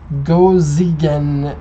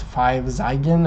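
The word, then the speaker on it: 5Zigen: That's really how you pronounce it. Gojigen. It would be the actual pronunciation. I guess a lot of people are wondering if it's 5 Zeigen or 5 Zeigen. It's Gojigen in Japanese.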